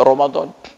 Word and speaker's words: Ramadan: Tapi bacanya wajib Allah sedangkan Romadhon memang tertulis r a m a d a n Ramadan tapi dibaca Romadhon jadi memang kayaknya paling